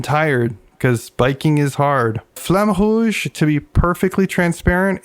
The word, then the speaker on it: Flamme Rouge: Kenny, why is Flamme Rouge on the list? Am I pronouncing that right?